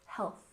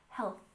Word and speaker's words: health: syllable mental mental and don't forget to really make this th sound with health remember to stick your tongue between your teeth health health Al together mental health good